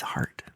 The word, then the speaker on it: Hart: their last name is Hart. Cuz they've got a lot of heart. Heart, you guys. Cuz they got But it's H A R T. You have to say it like heart.